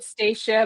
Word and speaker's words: Stacia: It's Stacia, but sometimes people call her Stacy.